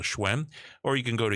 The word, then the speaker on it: Hsuen: go to, that's how you pronounce and spell Schwen.